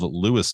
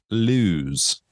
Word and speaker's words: Lewes: Today's story comes out of Lewis, Delaware, which I called Lewis Variety to make sure I was saying it right, which is a little store in downtown. So props to them. Mm-hmm. Because the way it's written, out of towners like myself will call it Lewes.